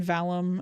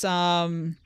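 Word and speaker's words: Valheim: No, it's not Valorant. It's, Valum. Valum? V-A-L-H-E-I-M. Victor, Alpha, Lima, Hotel, Echo, India, Mike. Valum. Yeah, no, I might have said it wrong.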